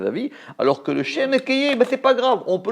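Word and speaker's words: אהיה: Mais par contre, le Shem Ekeye, on le prononce tel qu'il s'écrit. Il s'écrit Ekeye, il est ponctué Ekeye, on va le prononcer Ekeye.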